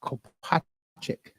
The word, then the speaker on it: Kopacik: Then you'll hear from, and I can never pronounce your last name, Kopacik. The R is silent, Kopacik.